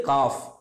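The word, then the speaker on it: كاف: இது வந்து காஃப், சாதாரணமாக தமிழில் இருக்கக்கூடிய காவுடைய உச்சரிப்பில் சொல்லணும்.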